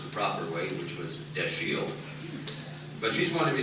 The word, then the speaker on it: Dashiell: A lot of you might think it's Dashiell. I thought that myself until some time ago, and I was told that he always liked to have it pronounced the proper way, which was Dashiell.